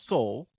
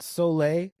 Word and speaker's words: Soule: It's Soul, not Soleil. It's Soul. Yes. Yeah, it's Soul. Yes. Every time I looked, I was like, Soleil. That would be an interesting pronunciation.